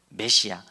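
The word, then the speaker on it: מָשִׁיחַ: 다 잘 아시는 대로 그 히브리어대로 발음을 하면 맛이 아흐입니다 그래서 그냥 우리가 익숙한 대로는 메시아입니다 메시아 메시아를 헬라어로 번역하면 그리스도가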